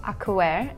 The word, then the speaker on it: Acwell: Acwell in Korean. Yeah, she does the Korean pronunciation very well.